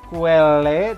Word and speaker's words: quelle: Ada dalam bentuk feminin singulier, quelle tulisannya, dibacanya quel, agak lebih panjang.